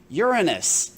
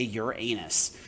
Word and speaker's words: Uranus: so it's not a fun place to live Uranus and yes that is how you pronounce it you do not say Uranus Uranus has a gravity that is 0.88 times